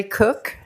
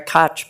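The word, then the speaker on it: Koch: My name is Cook and it's spelled K O C. She said Cotch, but that's happens often.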